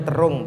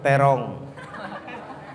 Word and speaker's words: Terung: Terung, bacanya Terung bukan Terong.